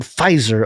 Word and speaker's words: Pfizer: instagram there he said the silent p gave the word pfizer a luxurious feel reminiscent of the silent